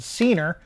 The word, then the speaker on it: Ceenr: from a company called cener I think that's how you pronounce it CER as in rhymes with wiener wiener we are not